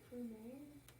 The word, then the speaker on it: premier: it's like premier. Close. ER makes an A sound on the end.